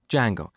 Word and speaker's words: Django: framework called django so it's spelled with a silent d and it's pronounced django it's a web framework